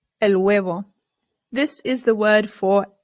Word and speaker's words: huevo: huevo el huevo el huevo this is the word for egg the h in spanish remember is always silent always always always i always hear americans say huevo and that is not correct it is good okay